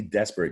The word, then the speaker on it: desperate: a long bow sound but when you say desperate you kind of hear an I don't use a short I sound and I'm touching my chin with the letter I desperate it but it's an A and you have to